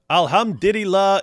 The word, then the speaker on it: alhamdulillah: Uh alhamdulillah.